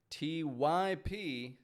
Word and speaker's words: typical: Typical. Spelled T-Y-P-I-C-A-L, but pronounced typical. Typical behavior.